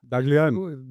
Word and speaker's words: Dahglian: Daglian. Dagan forastic. If you're Armenian or you know any Armenians, you know that's how you pronounce the last name.